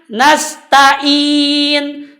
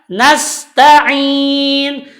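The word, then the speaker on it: نستعين: biasanya sama seperti tadi Ia menyebut huruf Ain dengan yg.di bacanya nasta'in nasta'in yang benar adalah nasta'in nastain biasakan membedakan antara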